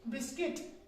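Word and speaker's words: biscuit: तो इसी तरह से बिस्किट। क्या है? बिस्किट है हमारे पास। तो इसमें जो है लेटर यू जो है वो साइलेंट है।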